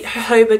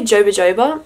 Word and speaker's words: jojoba: kindly gifted by the jojoba company i think that's how you pronounce it i used to say joba joba and i realized that was completely wrong you guys were like